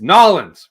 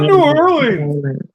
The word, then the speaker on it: New Orleans: style sandwich see and I know how to pronounce it Ryan it's nins right noin just nins our dad r that into our heads growing up it's not New Orleans n all right Dad